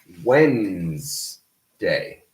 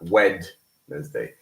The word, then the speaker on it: Wednesday: We do not pronounce the D. We just say Wednesday, not Wednesday.